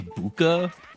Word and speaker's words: Bucha: How do you say Do you say Bucha, Hippie?